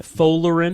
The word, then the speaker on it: Folarin: Folarin Folarin. Folarin, yeah. Balogun. Folarin Balogun. Balogun. Balogun. Folarin Balogun. Wait, how'd you pronounce his first name?